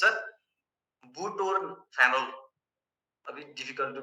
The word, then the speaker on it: butorphanol: Nalorphine, pentazocine, and butynorphal. Phenol. It's a butorphanol. A bit difficult to pronounce.